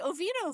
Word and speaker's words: Oviedo: She is the Public Information Officer for the city of Oviedo, Florida. Lisa, welcome to the show. Thank you. It's actually Oviedo, Florida.